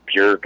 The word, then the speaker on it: Björk: into the Bruce Dickinson stuff, and I love Bjork, or Björk, I guess her name is pronounced.